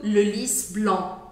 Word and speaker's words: Le Lis Blanc: Então, concluindo, le lis blanc. Esse C no final também não é pronunciado e A com N tem exatamente o mesmo som de EN, EN.